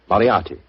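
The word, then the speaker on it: Moriarty: I'm afraid I'll have to begin calling it the way it looks. M O R I A R T Y. Moriati.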